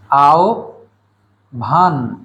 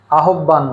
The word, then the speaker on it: আহ্বান: এই শব্দের উচ্চারণ হলো আও ভান। আও ভান, আহ্বান নয়। তাহলে এই শব্দের ব্যবহারে আমরা সতর্ক থাকব। আজ থেকে আমরা আর আহ্বান বলবো না, আমরা বলবো আও ভান। আও প্রথম অংশ, পরের অংশ ভান, আও ভান।